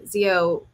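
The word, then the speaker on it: Xio: Zio is spelled with an X, which is why I chose this.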